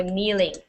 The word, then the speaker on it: kneeling: you are kneeling so kneeling okay to kneel is to bend and sit on the ground on your knees and when you do that you are kneeling okay so the K is silent this word is kneels